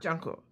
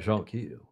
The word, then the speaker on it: jonquil: Jonquils. How do you say it? It's French, isn't it? Yeah, but... Jonquil. But it's we anglicize it and say Jonquil or Jonquil.